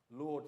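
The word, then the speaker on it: laud: Lord there, it's not spelled L-O-R-D, it's spelled L-A-U-D.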